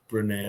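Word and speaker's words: Brené: Brene, I may be pronouncing that wrong. It's Brene with a little accent sign.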